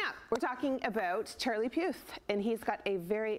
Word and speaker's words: Puth: Okay, coming up, we're talking about Charlie Puth, and he's got a very new television show. How do you say his last name? Puth.